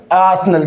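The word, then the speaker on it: arsenal: उसे बोला जाता है इंग्लिश के अंदर आसनल क्या बोला जाता है आसनल और मैंने आपको बताया कि यहां पर ये आर क्या है साथियों साइलेंट है इसके बाद में हम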